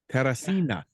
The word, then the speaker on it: Teresina: Brazil, Teresina.